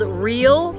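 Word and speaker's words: Reel: and this one is called real spelled re e l artistic so the name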